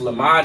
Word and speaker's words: lamad: I mean, which is pronounced lamad in the English, and it means to learn, okay?